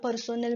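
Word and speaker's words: personnel: Next आहे difference between पर्सोनेल management and human resource management. So याचं spelling बघा, इट इज नॉट पर्सनल, इट इज पर्सोनेल.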